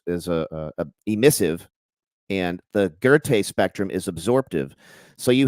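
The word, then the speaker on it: Goethe: was a guy 125 years later named Johan gerte g e t h e spelled goth but it's pronounced ger and uh he discovered that there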